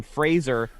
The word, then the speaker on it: Fraser: you pronounce his name Fraser like razor I believe he's on